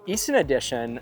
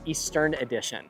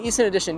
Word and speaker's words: Easton Addition: Anyway, so Easton Addition, many people, they mispronounce the name of the neighborhood and call it Eastern Addition, but it's not the Eastern Addition.